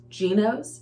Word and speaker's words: Gnoce: pronounces it different but one of the girls that I watch pronounces It Gos that is the easiest way to pronounce it that I can hear and think of so that's what we're